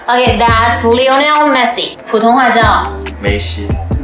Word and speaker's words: 梅西: 普通话叫梅西。梅西就是英文 Messi 的音译。对，梅西。